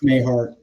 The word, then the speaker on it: Mahar: I have to admit I say Mahar because I was infected by watching the Doug McClure movie, you know, when I was a kid. So, but It's Mayhart to me.